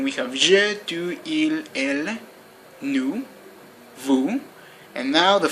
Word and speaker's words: elles: Although they are spelled E-I-L-S, E-L-E-S, they are pronounced like il, elle. Only in special occasions you can pronounce the S at the end. You can say ils or elles, but only at certain occasions.